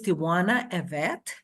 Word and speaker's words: Tywanah Evette: to have my guest speaker um Miss Tiana evet who is how is that did I corre pronounce it correctly yes okay thank you an